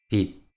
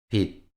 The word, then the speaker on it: 빚: La consonante final 'ㅈ' se pronuncia como 'ㄷ'. Por favor, escuche atentamente. ‘곧 – 곧, ‘낟 – 낟, ‘빚 – 빚’ Escuche atentamente y hable.